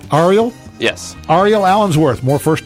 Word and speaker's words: Ariel: I want to make sure I'm pronouncing the name correctly. Ariel?